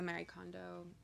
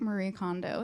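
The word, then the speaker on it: Marie Kondo: thinking about um the Mary condo that how you say her name I think Marie condo is how you say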